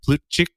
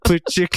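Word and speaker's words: Plutchik: familiar with is the plut chi wheel and he was he was actually American so they probably called him plut Chi but plut chick is probably how his ancestors pronounce the name who was developed by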